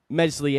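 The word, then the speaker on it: Meslier: Jack says will start mesli a silent s in goal man honestly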